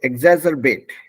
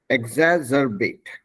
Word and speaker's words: exacerbate: So exacerbate. Exacerbate. It's 3 words. Exacerbate when you put them together.